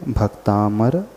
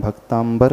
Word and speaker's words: भक्तामर: पड़ा है है तो जो लोग भी इसका उच्चारण भक्तांबर करते हैं अथवा उनकी जुबान में बैठ चुका है वे सभी लोग अपने उच्चारण को सुधार लें है क्योंकि को देखेगा